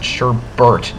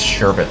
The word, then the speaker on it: sherbet: doesn't love sherber land I always pronounce it Sherbert not sherit I think it's sherbet land watch out for the